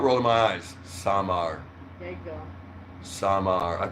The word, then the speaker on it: Samar: That's not how you say it. You What? say it's Samar. Without rolling my eyes, Samar.